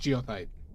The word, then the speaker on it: goethite: Like goethite. But I believe it's pronounced geothite.